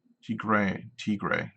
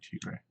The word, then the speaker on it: Tigray: Eritrea, is how you pronounce that? Tigray, that's right, Tigray.